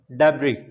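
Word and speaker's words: debris: S silent है, डेब्री।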